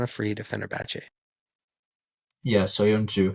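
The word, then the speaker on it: Söyüncü: Soyuncu. It's like, so thank you. I was gonna say Soyunco or something like that.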